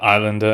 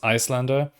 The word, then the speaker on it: Iyslander: and so you know it's not technically uh islander and it should be pronounced icelander but i just can't